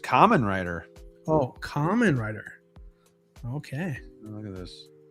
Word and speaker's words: Kamen Rider: Oh, Valkyrie says pronounced Kamen Rider.